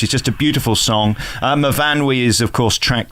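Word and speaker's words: Myfanwy: Mavanwi is, of course, track 2. I heard somebody on the radio describe it as my fanny the other day. You don't necessarily read it as it's spelt, do you?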